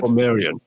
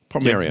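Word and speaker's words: Portmeirion: Port Merion. Port Merion.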